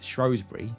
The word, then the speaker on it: Shrewsbury: Scott, and was shot entirely on location in the beautiful Shropshire town of Shrewsbury, and yes, I know it can also be pronounced Shrewsbury, you can argue that